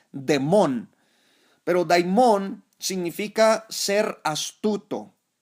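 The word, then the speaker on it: δαίμων: Así se escribe daimón, aunque su pronunciación por ahí es demón.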